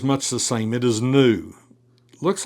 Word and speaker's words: nu: But the minuscule is that and that is new. And it does have that N pronunciation uh to that new as in new or net.